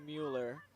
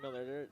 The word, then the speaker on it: Mueller: I believe it's Mueller. Or actually, no, it is Miller. It's spelled Mueller, but it's pronounced Miller.